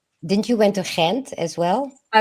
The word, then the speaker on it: Gent: or what didn't you went to Kent as well? I I did but I went all over. We went to Antwor Brussels Gent Yent is how is that is that how it's pronounced?